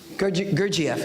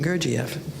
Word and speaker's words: Gurdjieff: Gurdjieff, excuse me. Gurdjieff, thank you.